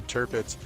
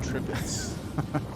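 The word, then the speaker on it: Tirpitz: on some of the battleships and whatnot from World War II, and they talked about the turpits, but the guy kept pronouncing it tripits.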